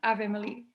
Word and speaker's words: Avelina: I just want to make sure I'm pronouncing Avelina or Evelina? Ave. Ave. Yeah, like Ave Maria. Avelina.